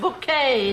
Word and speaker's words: Bucket: name again please bouquet uh that's spelled b-u-c-k-e-t bucket oh yes we have a bucket pronounced bouquet dear have you seen